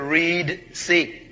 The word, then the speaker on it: Reed Sea: desert road toward the Reed sea you pronounce it red is actually Reed sea where read re group